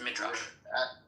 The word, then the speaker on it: Midrash: No, you said it right. Melissa was trying to confuse you. It is pronounced Midrash.